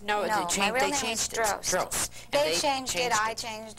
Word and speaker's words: Drost: It was long hair, no makeup, and it was called Positively the Most, which was supposed to rhyme with Drost, which is my real name.